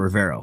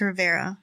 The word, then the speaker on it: Rivera: rivera that say right there's a rivero it's rivera yeah i said it